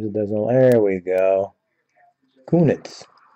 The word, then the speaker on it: Kunitz: wings next chris or kunis philadelphia penguins let's see if i get my camera come on sometimes it doesn't there we go kunitz better than the way i pronounce it the first time pekka rain nashville predators